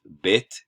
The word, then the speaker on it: bet: But for right now, I'll just note where pronunciation changes and where it doesn't. Okay, so Bet, Vet, you have the change there.